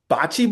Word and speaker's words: bocce: Bocce ball, am I pronouncing that correctly?